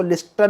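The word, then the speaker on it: listen: note लिसन तू यू इसको लिसन नहीं पढ़ेंगे साइलेंट है इसके अंदर लिसन के अंदर और जैसे की ऑफेन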